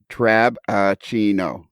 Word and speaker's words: Trabachino: It's 4 syllables. Yes. Jack Trabachino. Dave? Lionel. I'm not sure you always pronounce that B clearly because until Jack actually I had it spelled out for me, I did not see that B in there in Trabachino.